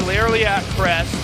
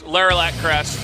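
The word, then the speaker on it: Lerilak Crest: Lairley at Crest. How do you say it? It's Laralac Crest.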